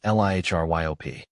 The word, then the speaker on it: Liriope: Liriope is pronounced as Lihryop. The emphasis is on the second syllable, ry, and the O is pronounced as a short O sound.